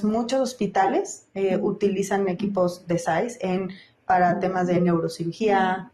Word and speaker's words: SAIS: ¿Lo estoy pronunciando correctamente? SAIS.